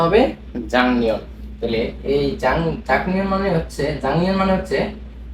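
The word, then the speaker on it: 작년: তাহলে এখানে আমাদের জাক নিয়নটাকে জাং নিয়ন উচ্চারণ করতে হবে।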